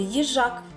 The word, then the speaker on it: їжак: Давайте визначимо скільки складів у слові їжак. Їжак. Скільки складів, діти? Так, два склади. А на який склад падає наголос? Їжак. Так, на другий склад, на голосну А. Молодці, малята.